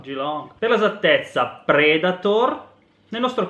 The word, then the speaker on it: Yiloong: Tu che sei cinese, come si pronuncia? Geelong. Geelong.